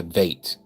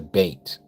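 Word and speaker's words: ב: It is not a vate. It's a bait.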